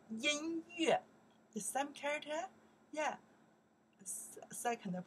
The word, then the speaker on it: 音乐: You say, that's, I think they pronounce the yue. How you know that? Very smart. We learned the yue from the music, right? We say, 音乐.